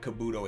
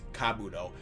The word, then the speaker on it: Kabuto: And apparently it's not Kabuto, it's Kabuto.